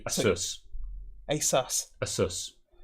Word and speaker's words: ASUS: ace asus e c apparently it's pronounced the same way that pegasus would be so it should be asus asas a sus it's